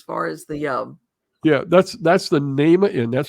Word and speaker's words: Nahma: this location, as far as the that's the Nama Inn. That's spelled Nahma.